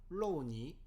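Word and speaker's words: 肉泥: 즉 간고기 혹은 잘게 다진 다짐육을 넣고 만든 짜장, 그것을 로우니. 근데 이 로우니, 이 발음을 리을로 표기가 힘드니까 그냥 들리는 대로 유니라고 이렇게 표기를 한 겁니다.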